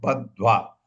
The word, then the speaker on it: बद्ध्वा: बद्ध्वा भी पढ़ सकते हैं, बद्ध्वा, धो भी आना चाहिए, धो भी आना चाहिए आपके प्रोनाउंसिएशन में।